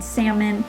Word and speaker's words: salmon: watching this video um the l in salmon for example is not pronounced when um the vowels